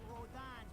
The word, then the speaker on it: Rodin: At least let me get a drink at Rodon's before you start...